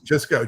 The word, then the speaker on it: Jusko: You know, it's just Jisco. That's his name. Just go. That's kind of hilarious. He says, "Jisco. Just remember just go.